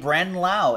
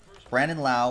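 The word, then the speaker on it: Brandon Lowe: Brant an eight low they spelled the same way they pronounce it differently it's not weird Brandon Lau and Nate Lowe last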